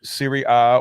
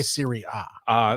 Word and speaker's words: Serie A: Why Serie A? That's just A, but the Italian pronunciation.